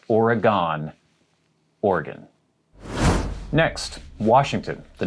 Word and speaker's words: Oregon: say oregon you say organ there's a little bit of an uh after or and then the gone is not gone it's gun so oregon but the uh is very very very slight organ not oregon organ next